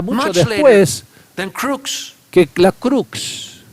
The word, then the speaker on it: crux: And the word cross in Latin is En crux, latín era crux, pronounced pronunciado crux, crux, which refers to a post, que se refiere